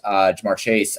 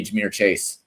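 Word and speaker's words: Ja'Marr Chase: way that I pronounced Jamar Chase. I did not say Jameer Chase, by the way. Like, that's just not true. I did not say Jameer Chase. I said Jamar Chase.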